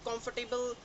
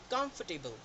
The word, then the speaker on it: comfortable: इसको हम कंफर्टेबल, कंफर्टेबल ऐसा समथिंग प्रोनाउंस करते हैं, जबकि इसका परफेक्ट जो प्रोनाउंसिएशन है वो है कंफर्टेबल, KAMFTBL, कंफर्टेबल, राइट।